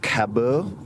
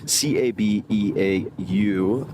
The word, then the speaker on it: Cabeau: This, and I'll do my best here, Cabeau, I believe is the pronunciation, Cabeau, and it has Evolution Pillow written on the side.